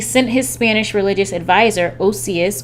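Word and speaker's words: Ossius: his Spanish religious advisor osseous or Josias as some pronounce it of Cordoba to Alexandria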